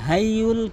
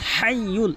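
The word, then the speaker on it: الحي: এখানে হাইয়ুল কাইয়্যুম বলে, হাইয়ুল কাইয়্যুম বলে। এখানে বড় হা হিসাবে হাটি হলকের মাঝখান থেকে হাইয়ুল, এখানে হাইয়ুল এভাবে উচ্চারণ করতে হবে। হাইয়ুল বড় হা হলকের মাঝখান থেকে, আমার সাথে প্র্যাকটিস করবেন।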